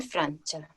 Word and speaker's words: Francia: Hanno studiato in Francia. Perfecto. Hanno studiato in Francia. Acuérdense que la C y A suena cha. Sin la I. No es Francia, es Francia.